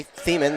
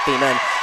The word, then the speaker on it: Thiemen: feeling nice job there by thiemen there we go that's how you pronounce it not female but the kill there